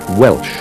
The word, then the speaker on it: Walsh: into the english and became walsh sometimes pronounced welsh the essential irish culture